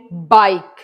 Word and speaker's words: bike: एंड बाइक BIKE, लेकिन इसमें ई की साउंड नहीं आ रही.